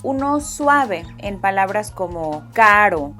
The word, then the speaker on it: caro: To get that soft R sound, you can think about the way many Americans pronounce words like butter or better.